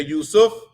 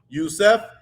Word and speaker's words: Yusuf: correcting the average language yusuf is similar you can say yusuf yusef yusif or yusuf all correct in the in the arabic language but we will hopefully